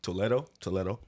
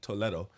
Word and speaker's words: Toledo: When I was in Spain and I heard Toledo, that's how they say it over there. Fire. I'll be honest, that sounds way better than how we say it.